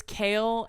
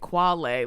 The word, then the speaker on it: kale: Like he thought it was quail, not kale. It's kale and he spelled it, but he was pronouncing it quale.